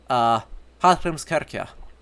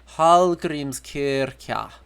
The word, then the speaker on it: Hallgrímskirkja: So, like, the big church in Reykjavik, Hallgrímskirkja. That weird pronunciation of Kl is a modern thing, not an Old Norse thing. It would be Hallgrímskirkja in Old Norse.